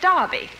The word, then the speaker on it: Derby: Just like here in America, you say Derby, and over there, we say Darby.